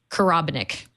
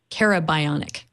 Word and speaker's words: Karabionic: Terry's name right, and I almost called you Karabonic, even though we checked it. But I'm just going to have to remember that it's Karabionic.